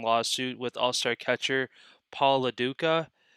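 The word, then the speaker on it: LoDuca: with All-Star catcher Paul LaDuca. Ducha. I'm not sure how you say that last You name. said it right the first time, Paul Duca.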